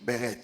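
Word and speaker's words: ברית: l'alliance dans son origine, le mot hébreu qui traduit alliance c'est le mot qu'on appelle beret. Ça s'écrit comme ça comme berit mais ça se lit beret.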